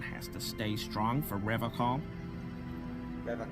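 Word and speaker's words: Revachol: to stay strong for rev call Rev call not rev Shaw he pronounces revov with a hard K unlike other people so Revol as in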